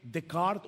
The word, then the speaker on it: Descartes: Han escuchado la famosa frase de el filósofo francés René Decart o Descartes, como se escribe en español, pienso, luego existo.